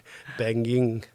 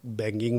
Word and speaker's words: Panging: तो क्योंकि मेरा नाम थोड़ा प्रोनाउंसिएशन में तकलीफ होता है, पैंगिंग, तो उसको कई बार लोग बैंगिंग बोल देते हैं, कई बार पेंगुइन बोल देता है, कई बार हैंगिंग बोल देता है तो ये डिप्टी